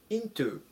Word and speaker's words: into: 書きます 219 番 into into アクセントに注意しましょう最小強く読みますほにゃららの中へ